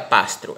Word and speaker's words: Pastri: importante biblioteca a biblioteca pastro ela ela se escreve pastri mas se pronuncia pastro né É questão do idioma deles Olha aqui a